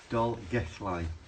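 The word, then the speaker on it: Dolgellau: gu I I doll gu I very good doll gu line that's the first time I've I've said it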